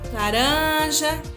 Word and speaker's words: laranja: Laranja foi a penúltima.